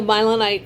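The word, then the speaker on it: mylonite: That's funny because a milenite is a type of rock. So there you go. And it's spelled M-Y-L-O-N-I-T-E, I believe.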